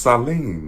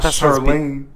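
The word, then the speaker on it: Sahlene: How do you say it? I think it's just Saline, right? S-A-H. Sure. Not Charlene.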